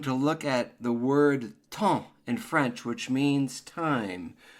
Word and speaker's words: temps: So you're basically pronouncing the E-M as a nasal sound, and it's the exact same sound as in the word enfant. So in the word enfant,